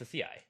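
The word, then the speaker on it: açaí: It's acai.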